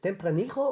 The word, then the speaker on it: Tempranillo: How do you pronounce the grape? Tempranillo?